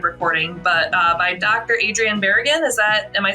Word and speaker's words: Adrian Barragan: today I should have double checked how to pronounce your name before we started recording but uh by Dr Adrien beran is that am I saying that right that's